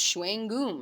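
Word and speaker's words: chewing-gum: should incorporate the word chewing gum is pronounced Shuang ghum it's just directly inserted into French language using the English spelling that's an example of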